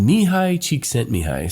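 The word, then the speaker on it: Mihaly Csikszentmihalyi: It's pronounced Mihai Csikszentmihalyi.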